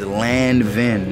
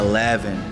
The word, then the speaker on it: Lanvin: pronouncing it wrong too she says land ven not laven now we learned something